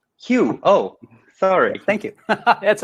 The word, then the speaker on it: Hugh: a yuke song hi hello everybody and it's pronounced hue hue oh sorry thank you that's okay the g distracts a lot of people hugh is both a